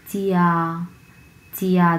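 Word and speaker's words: 家: ফিনিনটা আমরা হচ্ছে উচ্চারণ করব চিয়া চিয়া।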